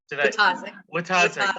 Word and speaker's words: Wojtaszek: Wojtaszek, thank you.